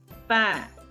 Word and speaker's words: pain: AIM, AIN together is pronounced as A. A. So, P plus A is pan.